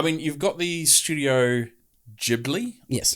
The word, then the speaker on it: Ghibli: out so i mean you've got the studio ghibli yes pronounce it thank you um and obviously we